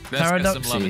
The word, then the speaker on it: Paradoxy: Paradoxy is how you say his name.